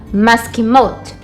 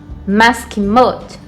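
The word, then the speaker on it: מסכימות: Vai ficar da seguinte forma: maskimot, maskimot.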